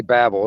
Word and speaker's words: Babel: that right I say Babble that's what I say Babble like he's babbling like a babble you know babbling around that's how I pronounce it anyway communication um but